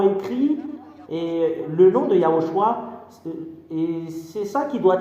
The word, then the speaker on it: Yahoshua: de yahoshua ZAD dit c'est yahoshua qu'on le prononce même les Hébreux savent